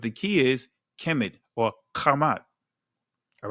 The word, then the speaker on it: Ham: But the key is Kemet or Kamat. All right? Because uh Ham name is actually pronounced Kam.